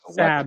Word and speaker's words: Sab: Sab is how you pronounce it.